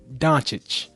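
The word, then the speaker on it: Dončić: Yeah, I just watched some of Luka how you pronounce his name? Doncic. Doncic. I've been saying Doncic. It's actually Doncic.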